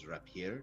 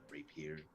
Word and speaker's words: rapier: that by the way that's the proper way to pronounce it is you're up here not rape here all right this is